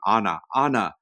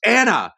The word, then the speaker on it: Anna: But yeah, them mispronouncing her name the entire time. Anna. No, it's Anna.